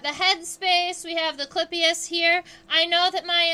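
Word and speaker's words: clypeus: call the in beetles we call that the clippius uh it's spelled c-l-y-p-e-u-s if you are curious about that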